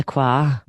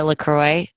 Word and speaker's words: LaCroix: I think it's not supposed to be fancy. It's not supposed to be Croix. It's just LaCroix.